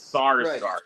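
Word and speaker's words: Skarsgård: Peter SAR Skarsgard I believe is how you pronounce itard scard who stargard it's sarsgard sarsgard who was also terrific in one of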